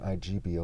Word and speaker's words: Igbo: One, ebo, ibo, and igbo where the G is silent.